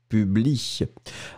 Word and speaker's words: publie: p ubs elle y le un final n'est pas prononcé et donc on prononce publie ensuite c'est j'accuse j'accuse